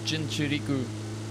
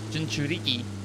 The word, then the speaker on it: Jinchuriki: Crossing right in front of Jinchuriku. Jinchuriki. Keep on saying it wrong.